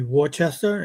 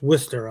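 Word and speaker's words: Worcester: But um even like cities like um if you look at it you you'd think it would be Warchester and it's Worester out there or um just the way they pronounce things are kind of well it's Bostonish you know.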